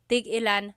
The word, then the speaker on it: tig-ilan: So tig-ilan, when there's a hyphen in it, you have to have that glottal stop.